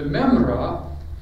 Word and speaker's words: Memra: The memra, which is a common modern way of pronouncing the almost impronounceable Aramaic, because it has a little guttural letter right in the middle of it.